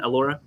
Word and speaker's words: Alorha: because Elora that is is that the proper pronunciation Elora yes it's a Laura hello everybody my name